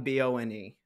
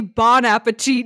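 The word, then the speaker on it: Bon Appétit: oh okay uh Bon Appetit but it's bone b-o-n-e well yeah because it's really Bon Appetit not bone I got that it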